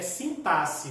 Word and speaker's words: sintaxe: A forma adequada que a gente usa de pronúncia é sintaxe, tá bom?